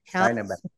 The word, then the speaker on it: Barnabas: RWJ Barnabas did I how do you pronounce Barnabas Barnabas Barnabas accent on the second syllab Barnabas system at Jersey City Medical Center.